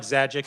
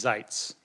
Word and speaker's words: Zites: So it it looks like Zagic but it's Zites. Okay.